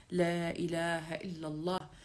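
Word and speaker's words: لا إله إلا الله: لا اله الا الله لانه الف لام لام ها تنطق بتكرار اللام عشان يطلع التردد حقيقي وصحيح وانت تستفيد منه وتسمع نفسك لا اله الا الله لا اله الا الله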